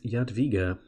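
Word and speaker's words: Jadwiga: is yaad yaad viga which thanks to my brassiere for letting me know how to pronounce that I send him a tweet than he he told me it is yet viga I asked him because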